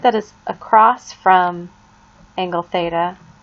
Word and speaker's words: theta: it like a little baseball cap that is pronounced theta theta is just a Greek symbol that we